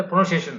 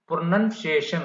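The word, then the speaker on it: pronunciation: இது எப்படி நான் ப்ரொனவுன்சியேஷன் அப்படின்னு ஃபுல்லா சொன்னேன், அது நீங்க வந்து ப்ரொனவுன்சியேஷன் அப்படிங்க கூடாது, ப்ரொனன்சியேஷன் அப்படின்னு ஃபுல்லா சொல்லணும்.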